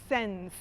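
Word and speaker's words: Cenz: so this is by mr senz that is spelled c e z mr sens has been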